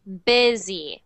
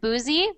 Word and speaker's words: busy: the next word BC so that isn't um BZ it's busy so that is sound first for some reason it looks like it's spelled it looks like it should be said Busey but it's really busy but busy good but and